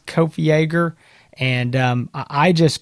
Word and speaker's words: Kopfjäger: that but that's what it is kofi ager and i just call